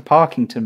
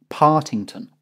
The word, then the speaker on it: Partington: It's been like 6 months and I'm still saying Peter Parkington, but no, it's Peter Partington.